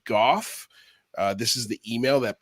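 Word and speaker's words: Gough: you and susan goth trying to get the pronunciation of her name uh so that way when we talk about her we were pronouncing her name correctly and it is indeed goth this is the email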